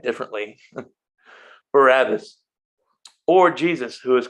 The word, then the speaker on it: Barabbas: And at that time, they had a notorious prisoner called Barabbas.